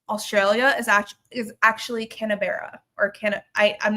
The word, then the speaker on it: Canberra: it's spelled like, but Australians pronounce their s their city names differently. So, uh it's Canberra sort of, I guess.